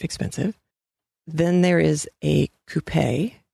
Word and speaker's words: coupe: Then there is a coupe, C-O-U-P-E, with the accent on the E.